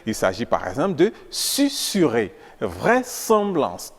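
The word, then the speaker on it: susurrer: entouré de vOYEL mais se prononce ne se prononce pas Z il s'agit par exemple de susurer vraieemblance tourne sol ainsi que des mots commençant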